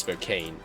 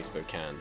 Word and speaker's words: Spokane: Definitely looks like it should be pronounced Spokane, but I believe I've heard people say Spokane, so I'll assume they were correct.